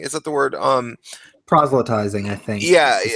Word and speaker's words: proselytizing: like an ideologue authoritarian, and just going around proletizing, is that the word? Proselytizing, I think, Yeah, is how it's yeah, pronounced.